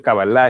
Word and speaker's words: Kabbalah: La cábala es un método, la expresión Kabbalah, se pronuncia Kabbalah en hebreo, significa recepción, el acto de recibir.